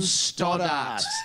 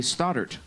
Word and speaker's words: Stoddart: We've got John Stoddart. And you've given me a bit of grief about this all week, the way I pronounce John's last name. We Americans say Stoddart, but you say... Stoddart.